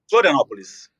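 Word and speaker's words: Florianópolis: Florianopolis.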